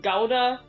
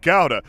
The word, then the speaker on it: gouda: noah was gonna say it's actually pronounced gowda so the kiko said